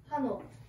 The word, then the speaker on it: Hanok: How do you pronounce it? Hanok.